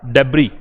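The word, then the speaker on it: debris: Rubble का डेब्री, इसका pronunciation डेब्री होता है, डेब्रिस नहीं होता। क्या प्रोनाउंसिएशन है, डेब्री।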